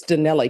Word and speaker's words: Donnelly: Oh, I'm mispronouncing it. It's not Donnell Smith. Donnelly Smith? It's Donnelly, correct?